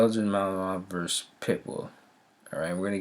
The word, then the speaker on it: Malinois: Belgian Malinois, pronounced Malinois, is a dog breed known for its loyal nature, strong work ethic, and herding instincts.